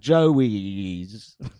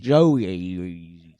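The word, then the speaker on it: Joeoe: It's called Joies. What? It's spelled J O E O E. J O E O E. Joies.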